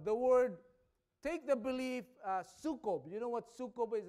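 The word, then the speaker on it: sukob: The word, take the belief, sukkob. You know what sukkob is? It's spelled S-U-K-O-B.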